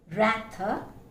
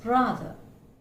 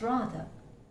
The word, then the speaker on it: rather: So it's not rather, it's rather. It's rather. It's not whether, it's whether.